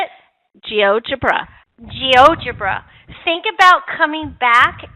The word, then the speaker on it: GeoGebra: GeoGebra.